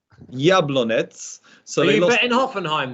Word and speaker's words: Jablonec: I can't get my Czech pronunciation right. Jablonec.